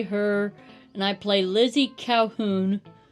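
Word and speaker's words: Colquhoun: She her and I play Lizzy Calhoun, which not spelled how you would think. Yeah, I was about to say I will be nice and spell it out for the audience. It is C O L Q U H O U N. That is the old Scottish way of spelling it.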